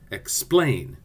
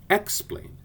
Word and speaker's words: explain: The word explain is an iam. The accent is on the second syllable. Listen, explain. And again, it sounds terrible if we say explain.